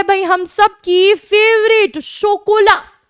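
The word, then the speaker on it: chocolat: आगे है भाई हम सबकी फेवरेट शोकोला, ला शोकोला। CH आपको पता है फ्रेंच में क्या बन जाता है? CH बन जाता है श, तो ये चोकोला नहीं है, शोकोला।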